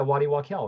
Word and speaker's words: Waddy Wachtel: Yeah, Waddy Wachtel, right?